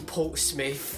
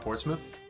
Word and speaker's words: Portsmouth: areas like Portsmouth or something put in in Portsmith yeah I hate foreign one of the things that I hate the most about Portsmouth is that first of all Portsmith not Portsmith